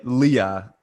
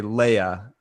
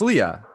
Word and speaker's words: Leah: it it's pronounced late Leah I always want to say Leia but it's Leah yeah yeah okay good